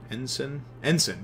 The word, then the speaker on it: Ensign: Ensign, yeah, that's how it's pronounced.